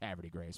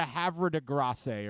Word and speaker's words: Havre de Grace: out that way man you're probably the only guy on the team that knows how to pronounce Havre De Grace by the way I'm guessing everybody else has been butchering it this season like hey I gotta run over to Havre DeGrasse or something like that yeah you're probably the